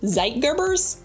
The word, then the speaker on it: Zeitgebers: These internal factors are called Zeitgebers. I think I'm pronouncing it right.